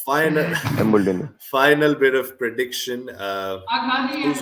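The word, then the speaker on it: Embuldeniya: But Embuldenia, yeah, yes, that's yes, I yes, have pronounced it right. final Embuldenia.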